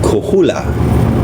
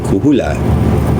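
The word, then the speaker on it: Coahuila: The same was true in um Kohoula. I know how to say it. Kuhula.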